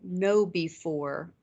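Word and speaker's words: KnowBe4: some great resources there's a security company called no before and it's spelled KN o WB e numeral four and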